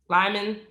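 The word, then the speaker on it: Lymon: Number four, Liam. That's how you pronounce his name. Lyman.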